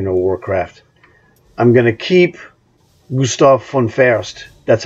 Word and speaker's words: Gustav: Warcraft I'm Gonna Keep Gustav from fast that's how you properly pronounce his name the V's in German are pronounced like F's Gustav fun fierst so